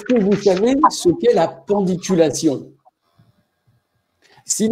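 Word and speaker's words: pandiculation: utilise pas est-ce que vous savez ce'est la pendiculation s'il y en a qui savent écrivez-le ça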